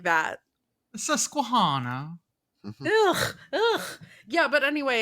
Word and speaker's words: Susquehanna: If you ask the play-by-play guy, the three rivers are the Ohio, the Monongahela, and the Susquehanna.